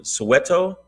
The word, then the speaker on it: Soweto: And then some Soweto.